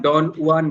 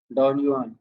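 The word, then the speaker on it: Don Juan: चलिए next question, who इज the narrator of डॉन जुआन, बोलते हैं इसको, जे साइलेंट हो जाता है।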